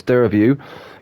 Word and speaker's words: Dergview: found out, fun fact, it's actually a silent G and it's Dergview.